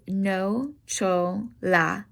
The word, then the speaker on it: nocciola: So hazel is nocciola, nocciola. CIA sounds like cha, nocciola.